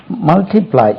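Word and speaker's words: multiply: your work பெருக்கு மல்டிபிளை மல்டிபிளை எம் யூ எல் டிஐ டி எல் ஒய் மல்டிபிளை first syllable தான் மல்டிபிளை கிடையாது மல்டிபிளை மல்டிபிளை மல்டிபிளைட் எம் யூ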